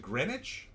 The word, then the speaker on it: Greenwich: Is it Greenwich? No, it's actually Greenwich, but the witch is spelled W-I-C-H.